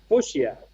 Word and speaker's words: fuchsia: He's Fuchsia. Fuchsia? fuchsia. Fuchsia. Fuchsia. Yeah. Like Fuchsia. like future, but fuchsia.